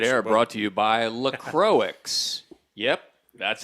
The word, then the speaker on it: LaCroix: Oh, this dead air brought to you by LaCroix. Yep, that's how you pronounce it. LaCroix.